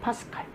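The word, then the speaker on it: pascal: 그래서 내가 PA라고 읽으면 안 된다. 우리는 뭐라고 읽어야 된다? 파스칼이라고 읽어야 된다. 파스칼.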